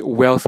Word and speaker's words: Whealth: it so the name of the channel is wealth by Slim in it's spelled w e a l t by s